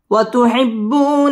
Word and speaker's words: وتحبون: زبر من حبا جما وتحبون المال حبا جما وتحبون المال حبا جما ওয়াও ঠোঁট গোল করে উচ্চারণ করতে হবে। ওয়াতুহিব্বু বা তাসদীদ ওয়ালা হরফ বু মধ্যে তাবাঈ এক আলিফ টেনে পড়তে হবে।